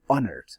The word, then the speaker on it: honored: Now here, highly honored. So H sound is there, but the second H is not pronounced.